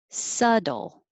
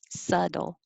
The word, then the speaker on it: subtle: it's like su dull subtle we don't say the b and the t sounds like a d subtle and twenty all of